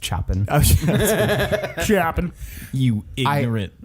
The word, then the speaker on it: Chopin: bear they marry things all have shown it's pronounced Chopin she happen you hear it I school I